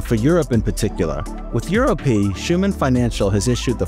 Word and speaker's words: EURØP: I got to ask before we start, EURØP, what's the official right way to pronounce it? Is there one? So I think internally we call it EURØP because it's just more clear and more unique, I guess.